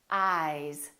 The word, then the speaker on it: eyes: Ice, eyes. This S is actually pronounced as a Z sound. This is actually Z, Z. This is voiced, and S, this is voiceless.